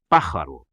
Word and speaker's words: pájaro: por exemplo a palavra pájaro em espanhol significa pássaro e pronuncia-se pararo pelo som ela se